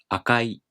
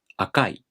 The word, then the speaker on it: 赤い: This one is traditionally pronounced as the flat type, like 赤い. But pronouncing it as the downstep type has been getting more and more common, like 赤い.